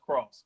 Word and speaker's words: Kraus: His name is spelled Kraus, but Kraus, it's pronounced Cross.